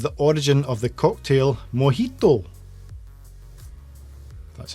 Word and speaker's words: mojito: which country is the origin of the cocktail mojito that's how you pronounce it uh which country is the origin